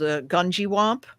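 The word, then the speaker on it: Gungywamp: There's a place in Connecticut called Gunjiwamp, and I'm not mispronouncing that. That is actually how you say it.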